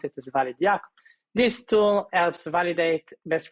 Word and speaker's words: ValidIaC: first open source tools called valid ic we pronounce it as valid this tool helps validate best practices for infrastructures